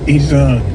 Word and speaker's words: Iran: You roll the R a little bit. Iran.